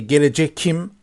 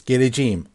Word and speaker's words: geleceğim: But we don't say gelecekim, so we soft this K into soft G. So here it means geleceğim.